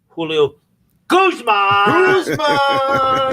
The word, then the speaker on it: Julio Guzman: And Julio, I do want to say one thing to No, you said it wrong. Julio Guzman.